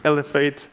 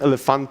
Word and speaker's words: Elephate: pronounce our agency name it's lf8 not elephant or and stuff like that so